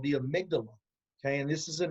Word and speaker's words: amygdala: there yet oh okay okay the way you pronounce it is the amygdala amygdala okay tell me about the amygdala well I